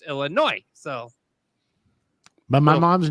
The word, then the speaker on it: Illinois: boys see people call Boise when it's actually pronounced boy C Illinois is not then you know you're a tourist it's Illinois so but my mom's name is Linda and